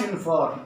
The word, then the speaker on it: uniform: Now this is dash uniform. Uniform. The letter is vowel, but we are pronouncing it as a U.